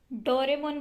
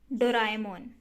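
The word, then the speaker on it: ドラえもん: एक और देखते हैं, आज तक डोरेमोन बोलते हुए आए हैं लेकिन एक्चुअल प्रोनाउंसिएशन डो रा ए मो डोराएमोन ये होती है।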